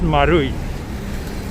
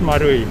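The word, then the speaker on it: マルイ: name of that shopping mall right it's actually pronounced marui and maru marui means like circle or round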